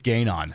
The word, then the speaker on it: Ganon: It's Gayon.